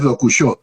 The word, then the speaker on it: Dokushô: cierto, por cierto que mi nombre es Dokushó, con acento en la Dokusho. O.